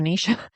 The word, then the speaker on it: niche: And yes, I pronounce it niche, not niche, like a crazy person who, I don't get that when people call it a niche. That's so weird to me. It's like, it's clearly niche.